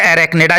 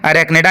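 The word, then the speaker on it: Arachnida: तो इसका एक क्लास है एरेकनेडा जिसको बोलते हैं। एरेकनडा या आर्किनेडा भी आप कह सकते हो। मैं तो इसको एरेकनेडा प्रोनाउंसिएट करता हूं।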